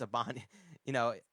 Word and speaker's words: Ibanez: It's Ibanez. Ibanez. Ibanez, I'm yeah. like, all right. Dude, I don't know. For me, pronouncing some things, dude, my brain just, it comes out and it just goes off.